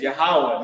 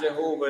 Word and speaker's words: Yahawah: those wrong names right the lord's name is yahawah not Jehovah not yahovah not Yahweh right yah uh Jesus Christ